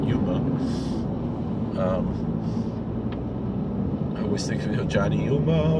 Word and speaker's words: Yoma: 71b in Yoma. We pronounce it Yuma.